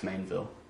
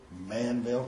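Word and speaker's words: Maineville: How would you spell that? M-I-L-L-B-A-N-K. Okay. It's Mainville, Ohio. Fairfield? No, it's Mainville. Manville?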